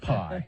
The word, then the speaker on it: pi: People insist that that's pronounced P. I don't care. It's pronounced pie. It's pie, okay? You want us to take it seriously, you don't call it the P variant, No, okay? it's the pie variant if they go with the next letter.